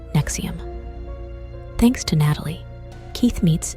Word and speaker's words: NXIVM: AKA pyramid scheme but then came nxivm pronounced Nexium thanks to Natalie Keith